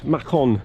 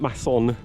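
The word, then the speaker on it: Mâcon: just found out that the town i'm going to is pronounce makon and not not mason so today i'm going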